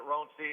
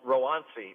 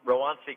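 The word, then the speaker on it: Roansy: ronzi ronzi yeah most people are calling it roncy uh it's you know for the the latin the correct pronunciation latin wise is rowansi rowanci contreras okay all right uh three innings shutout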